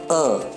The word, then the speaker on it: a: go rule number one indefinite article a is pronounced as uh remember it's pronounced as